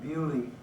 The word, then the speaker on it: Beaulieu: I was assigned to the 365th Fighter Group in Beaulieu. It shows you what the British do to the French language.